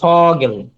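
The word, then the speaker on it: Vogel: তারপর হচ্ছে এই যে ফাউ, ফ, ফাউটা ফ, ফ এর মতো উচ্চারণ হয় সবসময় ফ। যেমন এই যে ফগেল, ফগেল।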